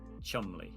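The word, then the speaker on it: Cholmondeley: uh, for those who can't see it, is pronounced Chumley.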